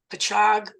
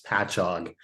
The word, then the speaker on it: Patchogue: Oh, by the way, in the spirit of pronunciation, as a native New Yorker, it's Patchogue. If you ever talk to the curator there, it looks like it should be pronounced Patchogue, but it's Patchogue.